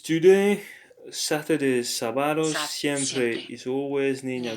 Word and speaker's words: sábado: Notice there's an accent on the A, so sábado. That's the syllable where you have to put the accent.